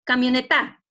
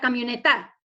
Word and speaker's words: camioneta: A ver, dice que la sílaba tónica está en ta. Pronunciemos, camioneta. Vamos a la camioneta. ¿Correcto? No, profesor, está mal. Sería camioneta en la NE.